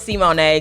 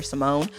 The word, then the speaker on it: Simoné: i think it was c-money yes what you thought it was but now it's c-monet because my name has an accent mark on the e so like anywhere else in the world they would pronounce it c monet but my parents was like forget the grammar rules we're just gonna call her simone um so that's my